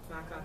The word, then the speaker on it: vaca: Baka.